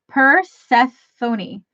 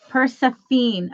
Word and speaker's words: Persephone: Persephone.